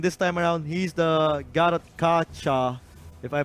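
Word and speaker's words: Gatotkaca: In the previous game, he was the Diggy, and this time around, he's the Garot Kacha, if I pronounce that correctly. And again, Gatot Kacha.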